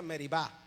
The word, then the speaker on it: Meribá: Y entonces sería meribá, en hebreo se pronuncian así, ¿ok?